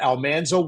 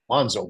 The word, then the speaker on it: Almanzo: So I came in in season 6 to be this character Almanso Wilder. We pronounced his name Alonszo Wilder incorrectly. One of the few overt mistakes that was made.